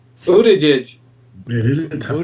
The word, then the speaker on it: Buttigieg: If they can ever pronounce his name. Buttigieg.